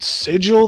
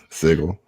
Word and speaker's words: sigil: now that that that that sigil that he uses sigle yeah of course you know he's clearly mispronouncing it yeah um one thing